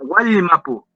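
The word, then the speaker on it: Wallmapu: Entonces, Wal Mapu sería Wal, ¿ya? No es Wal. Yeah. No sé si ustedes lo han visto escrito, que se escribe con doble L, ¿cierto? ¿Lo han visto escrito? ¿Cierto? Se escribe igual, depende del grafemario. En otro grafemario lo escriben con J. Ya, Wal Mapu es un sonido L-L.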